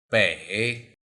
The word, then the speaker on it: 北: 北 First, let's learn the pronunciation of this Chinese character.